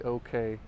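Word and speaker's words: OKeh: machines and records from the OK company, O-K-E-H, that's spelled.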